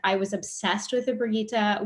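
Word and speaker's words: Brigitta: Also, I loved that movie, and I was obsessed with the Brigitte. We pronounced it Brigitte. I think in the movie it was Brigitte.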